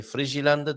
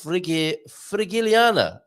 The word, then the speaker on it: Frigiliana: Do you say Frigilanda? Do you say Frigilana? Oh, it's not Landa, it's Frigiliana. Oh, that sounds a little bit better, doesn't it? But not much. Frigiliana is what we may well be learning about from Veronica.